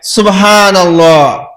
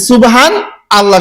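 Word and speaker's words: سبحان الله: আমি অনেককেই জিজ্ঞাসা করেছি, বলে সুবহানাল্লাহ সুবহানাল্লাহ সুবহানাল্লাহ সুবহানাল্লাহ, মানে সুবহান আল্লাহ শোনা যায়, ও বলে সুবহান, হান বলে হান, তারপরে আল্লাহ, সুবহান আল্লাহ। কিন্তু আসলে শব্দটা হচ্ছে এরকম উচ্চারণ সুবহানাল্লাহ। কি উচ্চারণ হবে? সুবহানাল্লাহ।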